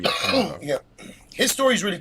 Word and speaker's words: Kamungo: Kamungo is how you pronounce his name. Yeah, Kamungo.